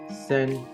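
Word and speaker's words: 川: kanji for River chinese-based pronunciation of this kanji is Sen as you can see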